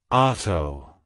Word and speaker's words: Otto: prosperity it's pronounced as Auto auto auto to pronounce it correctly emphasize the a sound and pronounce te softly